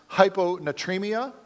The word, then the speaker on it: hyponatremia: Severe lack of salt, I believe is that it's pronounced hyponatremia.